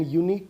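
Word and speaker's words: unique: यहाँ पे जो साउंड आ रही है वो वोवल साउंड नहीं आ रही है, वो कॉन्सोनेंट साउंड आ रही है, यू, यूनिक।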